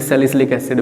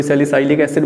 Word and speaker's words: सैलिसिलिक एसिड: इसको बोला जाता है सैलिसिलिक एसिड, कोई सैलिसाइलिक एसिड बोल देता है, जैसे आप प्रोनाउंस करना चाहो वैसे कर लो।